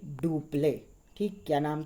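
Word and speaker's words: Dupleix: डुप्ले पढ़ेंगे हम इसे प्रोनाउंसिएशन में, स्पेलिंग आप उस तरह से लिखोगे।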